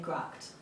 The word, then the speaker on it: gracht: That word is spelt G-R-A-C-H-T, which we might look at and say gracht. It's gracht. Almost unrecognisable, really, to the untrained ear, but I got there in the end.